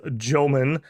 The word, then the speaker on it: Jomon: I was corrected that they do not have the soft J sound, which is definitely correct. Definitely is Jomon.